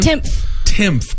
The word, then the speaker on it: Timpf: Timpf.